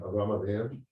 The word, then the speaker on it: Avraham: So don't we typically say Avraham? Abraham, not Avram. Okay. Avram is just the hey gets swallowed up because it's almost a silent letter, but the name is Abraham.